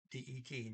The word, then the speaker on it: de: it looks like that d-e-t that but you don't count steve day is the the for neuter and i don't know if i mentioned here d e that's pronounced d okay it's same exact word